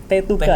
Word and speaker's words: Tetuka: Tetuka ya bacanya.